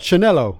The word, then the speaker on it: Scanniello: Chris. Chinello. The S is silent. Chinello.